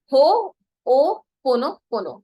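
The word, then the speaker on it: Ho'oponopono: है वो होपनोपोनो का शॉर्ट फॉर्म लिखा है, हो ओ पोनो पोनो। तो जिन भी लोगों को प्रोनाउंसिएशन में दिक्कत आएगी उनको मैं हिंदी में लिख के दे दूंगी, हो ओ पोनो पोनो।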